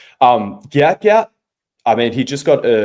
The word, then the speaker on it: Gout Gout: But then I noticed Gout Gout's manager has come out and be like, "Fuck Gout's dad, it's Gout Gout," which I think is pretty aggressive.